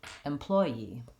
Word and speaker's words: employee: the last syllable the first one has stress on the same syllable as employer in which case it sounds like employee employee I have a little bit of an e yes sound there employee that's kind of hidden in the in the linking between the two vowels so let's try it